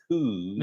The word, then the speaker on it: coups: That's Thailand has had 14 coups. That's pronounced coups.